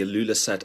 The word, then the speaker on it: Ilulissat: Uh thank you so much and you did get the pronunciation right. It's called the Ilulissat Icefjord.